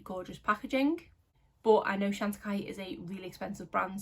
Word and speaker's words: Chantecaille: we have some new products from the brand chantikai which i was pronouncing wrong for the longest time the reason i clicked into this was because of the gorgeous packaging but i know shantikai is a really expensive brand so these wouldn't